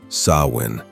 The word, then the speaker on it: Samhain: The festival of Samhain, pronounced Samhain, was more than celebration.